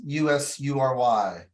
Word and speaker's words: usury: wrong use your law how do you pronounce u-s-u-r-y I call it news right yeah it knows usury it's usually and each state may have